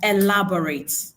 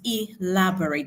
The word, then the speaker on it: elaborate: Pay attention this word is not pronounced elaborate. So it is pronounced elaborate. That is the short e sound in English.